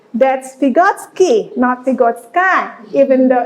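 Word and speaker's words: Vygotsky: believe you are aware with the name of pigotsky that's pigotsky nazi godskai even though it's sky pronounced at the back pigotsky let's see based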